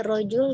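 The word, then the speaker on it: رجل: hanya barangkali pelafalan ya pelafalan rojola itu tadi masih kurang konsisten jadi rojul di situ seseorang ra Jim dan lam nah Bunda membacanya begitu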